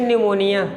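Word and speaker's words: pneumonia: वहाँ पर phthalic acid, वो साइलेंट रहता है, pH, हाँ pH साइलेंट रहता है, हाँ पैथैलिक एसिड, थैलिक एसिड। देखो जब ना TH के पहले P अगर आता है ना तो साइलेंट रहता है, जैसे न्यूमोनिया, और भी ऐसे बहुत सारे नाम होते हैं ना।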